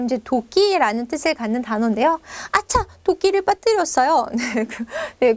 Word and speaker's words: hacha: 거죠 그리고 자 이렇게 아차 앞에 발음이 안 지만 h 있는 이런 단어가 있다라는 거죠 우리 아차 이러 이제 도끼라는 뜻을 갖는 단어인데요 아차 도끼를 빠뜨렸어요네네 그 도끼입니다